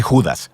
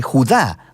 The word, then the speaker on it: Judá: La carta de Judas o más precisamente Judá, de acuerdo con la pronunciación de su nombre, tanto en griego como en hebreo.